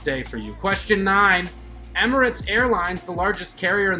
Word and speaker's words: Emirates: with his hat straight not emiratis emirates airlines the largest carrier